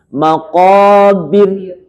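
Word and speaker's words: مَقَابِر: Bagaimana ekspresi tarqiq? Tipis. Maqabir. Kalau begini tarqiq tafkhim. Maqabir. Nah, itu tebal. Maqabir. Tipis, ya. Jadi cara baca di sini ro-nya dibaca tarqiq ketika waqaf.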